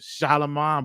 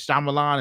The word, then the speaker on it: Shyamalan: not I me and other people have been pronouncing it shalaman but this actually has a different pronunciation from